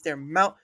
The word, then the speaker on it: Daramouthe: I will tell you again. It's their mouth. It's their mouth, not their mouth.